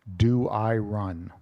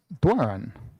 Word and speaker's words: Doiron: meme, in my case, my great aunt, not my grandmother, pronounced it Doiron. And when I hit my 20s, I said, well, she's old. She's like an original Doiron. She knows how to pronounce her own name. I should pronounce my name like she's pronouncing it. And so I don't go Doiron, I say Doiron. So it's a Frenchified thing.